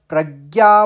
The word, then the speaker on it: प्रज्ञा: प्रज्ञा में भी प्रज्ञा प्रज्ञ बोलेंगे फिर ज्ञ यानी पहले ग का आघात आएगा फिर ज्ञ होता है आप जानते हैं हिंदी वर्णमाला में तो ज्ञ का उच्चारण ज्ञ ही होगा और अब ज्ञ के ऊपर आघात है तो आप इसको आघात लेंगे प का तो इस शब्द का उच्चारण होगा प्रज्ञा ्याप तस्यप प्रज्ञाप और